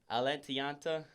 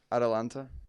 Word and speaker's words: Atalanta: Atlanta versus Dynamo. Atalanta. Yeah, Atalanta. I don't know why I just pronounced that wrong.